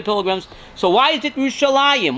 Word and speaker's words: Yerushalayim: So why is it Yerushalayim? Why is it pronounced Yerushalayim? It's Yerushalayim. Why do we stick the extra Yud in there?